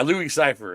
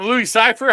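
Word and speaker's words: Louis Cyphre: not even an anagram it's basically separate it's like pronounced the same it's like Lucifer right isn't it Mr Cipher Cipher yeah Louis Cipher that's CER hi I'm Lou Cipher how you doing yeah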